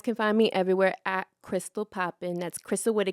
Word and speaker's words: Krystall Poppin: find me everywhere at Crystal Poppin that's Crystal with a K and two L's don't misspell and popping with a silent G cuz the g is silent okay Crystal Poppin um